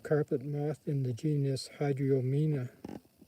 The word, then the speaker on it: Hydriomena: All the pugs are in the genus Epitheca, or Epitheca, I'm not sure how it's pronounced. E-P-I-T-H-E-C-A. And a type of carpet moth in the genus Hydriomena. Hydriomena, H-Y-D-R-I-O, Mena, M-E-N-A, Hydriomena.